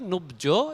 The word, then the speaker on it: নুব্জ: যখন জফলা, বফলা, মফলা শুরুতে থাকে তার উচ্চারণ আমরা করি না প্রাথমিকভাবে এটা। আর যদি পরে থাকে তখন আমরা উচ্চারণ করি। যেমন জফলা যদি পরে থাকতো আমরা উচ্চারণ করতাম সত্য, আর এখানে জফলা বাদ দিয়েই নুব্জ এরকম উচ্চারণ হবে।